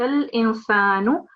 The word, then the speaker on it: الإنسان: What you have recited is وقال إنسان. Don't forget the la here. وقال الإنسان.